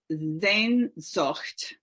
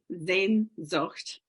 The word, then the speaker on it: Sehnsucht: Sehnsucht. And it's spelled Sehnsucht. Sehnsucht.